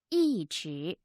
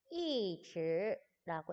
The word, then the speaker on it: 一直: 一直 2.